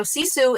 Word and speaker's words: sisu: but tell me now is it sisu is that how you say it what is that so okay so sisu it's a finnish word actually so i'm italian